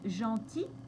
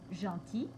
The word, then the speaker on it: gentil: a tout d'abord l'adjectif gentil avec le L qui ne se prononce pas et quand on double le L au féminin la prononciation est ye comme dans fille par exemple donc gentil gentille ensuite il y